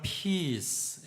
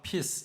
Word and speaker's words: peace: 빌어주고 예배를 마쳤는데 한 교인이 조용히 다가와서 피스 발음을 피스 이렇게 길게 해야 한다는 겁니다. 너가 한 것처럼 피스 짧게 발음하면 오줌을 누다라는 뜻이 된다는 거죠.